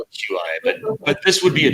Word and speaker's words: Qi: Qi. It's QI, but it's Qi because it's like the Qi from Taoism, I believe, something like that. I got you. I always call it QI, but this would be a charger with a charging coil.